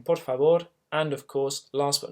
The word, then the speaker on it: por favor: Try not to say por favor. It's very easy to do when reading it out. It looks like it's spelled that way, but it's more of a por favor in the front of the mouth.